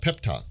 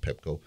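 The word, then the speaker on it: PEPTOC: And it's called Pepco, a pep talk, not Pepco, pep talk. And it's spelled P-E-P. P-T-O-C, because that's the way one of the little boys spelt pep talk.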